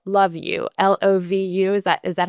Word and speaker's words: LovU: It's actually LovU, but, Okay. I mean, I think that probably a lot of people also say that, and it's probably endearing, but, LovU is how they would pronounce it.